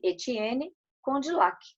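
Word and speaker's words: Étienne Condillac: Pronuncia-se Etienne Condillac, né?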